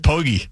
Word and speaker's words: Poggi: In the wake of the news that Charlotte has fired the head coach, Biff, is it pronounced Poggi? Yeah, Biff Poggi.